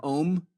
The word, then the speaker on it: Om: Well, most people spell it O-M, but it's actually A, capital U, capital M _. And when broken down in its actual meaning, Ah means I awaken. Oo means I'm dreaming.